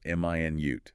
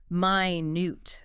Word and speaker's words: minute: This one depends on stress, right? Stress on the first syllable. M i nute. That's the unit of time 60 seconds. Stress on the second syllable minute. That's the adjective meaning very very small tiny.